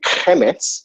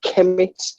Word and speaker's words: Kemet: Some people pronounce it Kemet and roll and pronounce the H. And some people say Kemet.